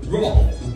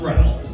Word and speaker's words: Rolf: The name is Rolf, Earl. Huh? Rolf. My name is pronounced Rolf the Wolf, not Ralph.